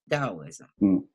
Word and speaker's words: Taoism: it's spelled with the gt800 SM but is pronounced with Adi Taoism so Chinese medicine and it's fascinating if you